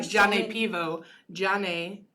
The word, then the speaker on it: grzane: Jane, spelled Grzane, is mulled, and Pivo, Piwo, is beer in Polish.